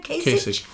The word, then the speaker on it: Kasich: Kasich.